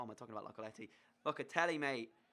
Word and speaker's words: Locatelli: Locatelli, mate.